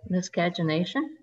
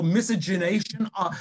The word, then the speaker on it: miscegenation: Could be death by miscagination. By what, Carol? Miscagination. Miscagination. Oh, miscegenation. Yes, I didn't say it right.